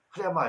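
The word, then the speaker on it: ῥῆμα: 흐레마 이렇게 하는데 원래 흐레마로 되어 있고, 레마는 영어적 개념 발음입니다.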